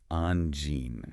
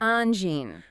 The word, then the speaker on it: Angine: N Gène. N Gène.